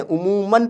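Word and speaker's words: عموماً: फ़ौरन में भी हम नून प्रोनाउंस कर रहे हैं, लेकिन लिखने में अलिफ लिखा जाता है। उमूमन में भी नून मीम नून मन पढ़ते हैं, उमूमन पढ़ते हैं, लेकिन लिखने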